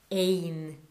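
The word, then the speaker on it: אין: There is yesh, and there is no, it's ein. Okay, special word for there is no.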